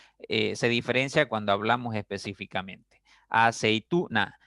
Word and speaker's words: aceituna: Aceituna, aceituna. La mayor fuerza está en la sílaba tú.